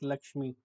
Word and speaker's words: LXME: So it is LXME or you can pronounce it as Lakshmi right.